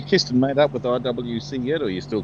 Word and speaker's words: IWC: IWC. The IWC? Okay. The confusing thing in Spanish is I is pronounced as E. Yeah. EWC.